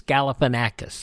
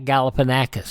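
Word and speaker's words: Galifianakis: here that I use for this segment it is spelled out Gan Aus galipan acus there you go from The Hangover uh Zach galipan acus 55 years old today a third generation pro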